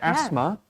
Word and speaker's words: asthma: Yeah, asthma. There's the H is silent in that word, and then eczema.